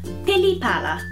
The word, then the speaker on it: pili-pala: Pili-pala, butterfly.